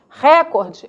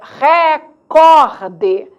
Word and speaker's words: recorde: influenciando a ortografia percebe sabemos também que o adequado é recorde recorde marcando para você entender Olha